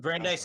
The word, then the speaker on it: Brandeis: Brandeis, I believe, is the At pronunciation. American Jewish University Yeah, in yeah. Simi Valley in Southern Brandeis is California.